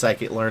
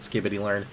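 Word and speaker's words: scikit-learn: spark skitylearn pandas numpy I know it's psychitlearn I will always pronounce it skittitylearn dashboard and data visualization So, I don't think we know the ratio for this one.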